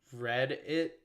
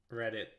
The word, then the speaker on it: Rediit: It's called All Night by Eugene Becker and Read It, but like not Reddit, the forum. It's spelled Rediit.